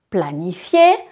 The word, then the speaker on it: planifie: planifie il elle planifie je ne prononce pas le E final je planifie je ne